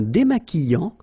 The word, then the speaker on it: démaquillant: So we've got this QU, but then U is not pronounced. So you get the sound qui. Okay, and then remember, double L after E will give you the sound y. Démaquillant. Final T not pronounced. Démaquillant. Okay, and this is nasal in your nose.